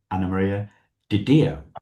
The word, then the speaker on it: Anna Maria DiDio: Anamaria Diao. That's how I pronounce it, right?